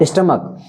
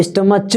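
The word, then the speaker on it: stomach: हैं ठीक है और स्टमक इसको हम स्टमच नहीं बोलते हैं क्या बोलते हैं स्टमक क बोलते हैं इसलिए बच्चों जब इसका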